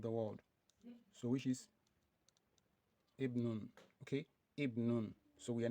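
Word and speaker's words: ابن: So when it comes between two words or letter or words, so we assimilate it. That is, we omit it, we don't pronounce it.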